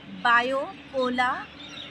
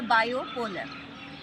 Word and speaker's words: bipolar: अब हमारा second word है बायोपोलर या बायोपोलर। ये दोनों भी सही प्रोनाउंसिएशन है, हम इसे कह सकते हैं।